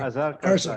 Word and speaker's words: Azhar Kharsa: Azhar Azhar Kharsa.